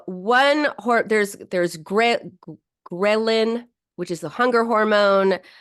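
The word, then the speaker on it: ghrelin: to have an increase in in grein. Grein, ghrein, that's how you say it.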